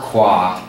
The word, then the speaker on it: Qua: Let's all say it together, Qua. Qua, but it's spelled Q-U-A.